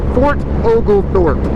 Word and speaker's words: Fort Oglethorpe: i'm going to say it right this time fort ogle thorpe there boom you can see the sign here